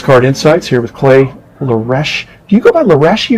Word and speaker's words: Luraschi: These days I'm going by Luraschi. It's difficult. It's an Italian last name, so the SCHI is actually pronounced like a key.